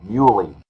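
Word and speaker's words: Mieuli: how we always said you always remember stubborn as a mule muy I've got you okay thank you I won't forget that now so the then Warriors owner Franklin muy initially offered to or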